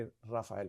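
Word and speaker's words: Rafale: लेकिन उन्होंने रात की तारीकी में अपने राफेल, बल्कि राफाल उसका असल प्रोनाउंसिएशन है फ्रेंच में, जो है उसके ज़रिए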